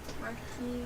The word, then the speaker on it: Marquis: Marquis. Yeah, the S is silent.